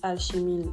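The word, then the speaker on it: alchémille: mal l'alchéile alchemila vulgaris on dit alchimile au Canada c'est comme ça que j'ai appris à le prononcer donc ne m'en veuillez pas si vous m'entendez dire alchimine parce que là tout de suite je ne suis pas française bon les propriétés médicinales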